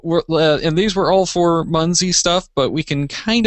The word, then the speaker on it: Munzee: All I know about Munzie is it rhymes with Funzie, which kind of reminds me of Fonzie.